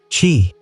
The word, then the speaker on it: qi: The invisible life force called qi, pronounced qi, flowed through every living thing, and the key